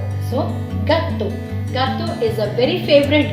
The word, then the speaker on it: gâteau: And EAU, in combination of these three letters, it makes a sound that is O. So, gâteau.